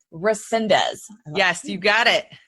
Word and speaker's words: Resendez: Resendez. Resendez.